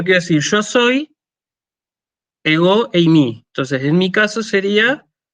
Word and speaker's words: εἰμί: Se dice eimi. ¿Sí? Fíjense que usamos un diptongo, ¿sí? Eimi se dice. Entonces, si yo quiero decir yo soy, ego eimi.